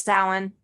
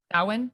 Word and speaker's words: Samhain: I think it's Samhain. Samhain. It's spelled Samhain when it's Samhain. Always confusing.